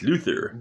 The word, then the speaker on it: Luthor: your pronunciation Lex Luthor it's Luther like Luther Vandross or Luther Burgers